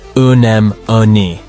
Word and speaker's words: anemone: The pronunciation of this word rhymes with the enemy and is pronounced unem-oni.